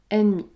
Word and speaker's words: ennemi: et c'est vrai que dans ce cas nous prononçons n n ennemi mais généralement retenez cette